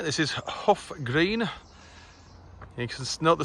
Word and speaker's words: Hough Green: Right, this is Hough Green. You can note the spelling, it's H-O-U-G-H, but you pronounce it H-U-F-F. Hough Green is how you say it.